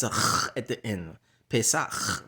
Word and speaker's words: Pesach: So ha, pa, sa, cha. Those are the letters. What the letters are pronounced if you're saying A, B, C, D, E, F, G. Ha, pa, sa, cha. Ha, Pesach.